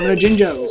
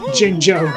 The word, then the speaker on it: Jinjo: __ ] spelling it's it's two j's not a j and a g if it was a g then yes jingo but it's spelt jinjo why is it pronounced jinger and there's the [